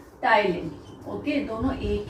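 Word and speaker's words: ptyalin: ही दूसरा नाम है टाइलिन। ओके, दोनों एक ही है, इसमें टी साइलेंट है, तो आप सिलेवरी अमाइलेज भी बोल सकते हो, टाइलिन भी बोल सकते हो।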